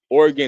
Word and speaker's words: Oregon: Lord did not say Oregon. Oregon is two and a half syllables.